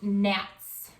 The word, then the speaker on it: gnats: We call those gnats. And they're spelled G-N-A-T-S. But we don't say the G. It's not gnats, right?